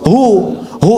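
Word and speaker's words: هو: Nah, huwa itu kalau kita ingin berhenti di huwa, maka A-nya nggak dibaca. Contoh ayat kursi Al-Baqarah ayat 255. Allahu la ilaha illa hu. Huwal hayyul qayyum itu kalau nyambung, kalau berhenti di hu bacanya hu.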